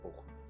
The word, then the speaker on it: Bochum: Also, definitely I- not pronounced Bochum, in case you're wondering. It is pronounced Bochum.